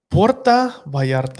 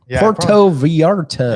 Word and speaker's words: Puerto Vallarta: went to puerto vallarta you say that one time puerta vallarta i think you're pronouncing it wrong puerto vallarta yeah i think that's